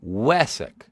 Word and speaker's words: Wesak: Wesak pronounced like we suck. Wesak.